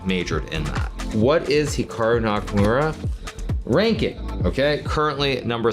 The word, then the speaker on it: Hikaru: more Americanized versus Japanese certainly if I was pronouncing it correctly it would be more like Hikaru as opposed to Hikaru but I've spent so